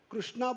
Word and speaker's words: कृष्ण: कृष्णा नहीं, कृष्णा द्रौपदी का नाम है। हा? उच्चारण करते समय कृष्ण बोलने का, ठीक है? जैसे कृषि बोलते हैं, कृषि उद्योग, वो क्रू है, वो कृष्ण में आना चाहिए।